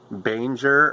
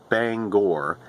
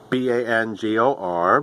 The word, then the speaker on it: Bangor: to Maine, when they come to Bangor, they pronounce it Banger or Banger, and the actual pronunciation of the city is Bangor, Bangor, but we just wanted to add that little